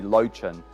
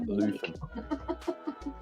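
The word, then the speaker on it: Löwchen: it's anglicized to be Lochin, which is not. Oh, he's a Lochin. It's not. Yeah, that's the anglicized pronunciation, but the German pronunciation would be more like Leuven.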